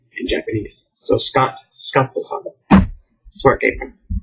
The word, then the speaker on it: Skattosan: So it's Skatto dash, so hyphen dash, SAN. Skattosan. So I guess the U is silent. I spell it phonetically. Whenever I go to spell it, obviously in words or letters, so that people, if they read it, they don't mispronounce it. Like most Americans would probably see the U and be like su or sa, Skattosan. Well, so it's Skattosan, Skattosan.